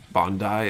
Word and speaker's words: Bandai: I feel like certain words, like I mispronounce Bandai as well, or it should be Bandai.